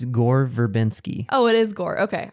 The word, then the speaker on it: Gore Verbinski: How do you pronounce his first name? It's Gore Verbinski.